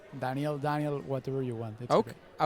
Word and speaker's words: Daniel: And Danielle is spelled D A N I E L, but I'm pronouncing it in the European way. That's perfect. It's It's Danielle.